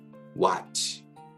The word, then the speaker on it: watch: 넘어야 될 게 바로 T가 묵음으로 발음될 때가 있는데요. 언제냐면 여러분들 손목시계, 그 다음에 보다라는 뜻을 가지고 있는 watch, 그리고 공을 잡다 할 때 catch. 이때 보시면 둘 다 공통점이 뭐냐? A 다음에 알파벳 A와 그 다음에 CH 사이에 T가 나옵니다. 이럴 때는 T가 묵음이 되는 것을 볼 수 있습니다.